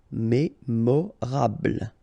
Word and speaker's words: mémorable: Don't insist on the final E. Mémorable.